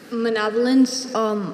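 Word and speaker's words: manavelins: Manavolins, are there any alternate pronunciations?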